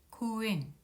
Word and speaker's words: 公園: 공원이라는 한자를 써서 코엔이라고 읽습니다. 코를 보면은 오 모음 뒤에 우 모음이 와서 오 장음으로 발음하면 되겠습니다. 코엔, 코엔, 코엔.